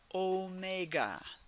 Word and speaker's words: Omega: it's Omega again Omega so this has the hard o sound not like the omoc which has the a has a soft o sound Omega has the has that long o sound looks like a w